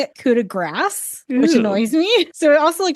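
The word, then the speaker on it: coup de grâce: It is like a coup de grace. You do this, but it's a ah instead of an ah.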